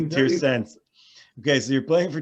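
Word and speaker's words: Torreense: You're playing for Tirsense. Yeah, Oh, I pronounced it too long of an E. Tirsense.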